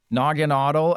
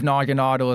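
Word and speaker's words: Naganadel: Nogginaudle, and I think Nogginaudle is the correct pronunciation, as dumb as that is. I do believe Nogginaudle is the correct pronunciation.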